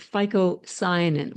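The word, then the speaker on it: phycocyanin: chlorophyll and the blue one which is called FICO cyanin which I'm sure you've never heard of before and I'm going to spell it for you write this down because I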